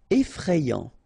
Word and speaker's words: effrayant: Effrayant, okay, so final T not pronounced, and then you get effrayant, okay, effrayant.